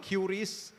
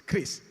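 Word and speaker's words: QRIS: the TV explaining it is not curious It's not QR is it's Chris so this is a you know a proof of a real player in the ecosystem that is pronouncing it correctly thank you Chris okay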